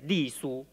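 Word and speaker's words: 隶书: Chinese pronunciation is Li Su.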